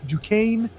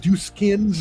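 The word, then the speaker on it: Duquesne: former NBA player about throwing a game at Dukane. That's how you pronounce it you marks out there. It's not Dkins or whatever you want to say.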